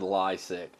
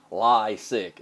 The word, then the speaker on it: Leisek: about Jared lysick's website I actually got the name right too I said Lasik see I know how to say it lie sick it's what he does